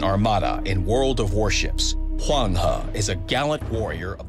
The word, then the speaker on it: Huanghe: But in case you are interested how to pronounce her name properly, here you go. Huanghe.